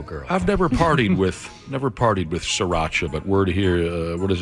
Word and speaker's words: Sriracha: Sriracha is how you say it.